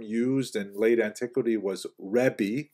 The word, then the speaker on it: Rebbe: In Israel, the term used in late antiquity was Rebbe, that's the actual pronunciation, which means my greatness, my largeness, which is translated to be my teacher.